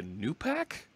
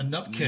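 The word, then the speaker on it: nupkg: This thing right there, you called it a new pack? Nupkig. How there am I we to go. Say that? Yep. A nupkeg, nup isn't it? The right pronunciation. Absolutely. That's what David Fowler says it should be.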